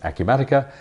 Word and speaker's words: Acumatica: a Q Medicare is or even how to say the word so we discovered it's a Q matica but who is a